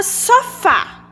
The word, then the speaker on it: sofá: A palavra sofá. Qual a sílaba tônica? Sofá. É o fá. E sem dizer que o fá está acentuado. Então, a gente já sabe que é o fá.